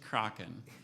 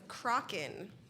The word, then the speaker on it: Kraken: Alternate pronunciations. There's just Kraken. It might be from giant squid sightings. Oh, origin? It's from Norwegian. My Spanish is not helping in this situation. Kraken.